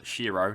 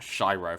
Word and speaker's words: Shiro: boom players King and essentially pronounce Shiro not shyro for some stupid reason